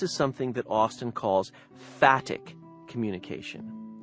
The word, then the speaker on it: phatic: And this is something that Austin calls phatic communication. It's spelled with a PH, P-H-A-T-I-C, phatic communication.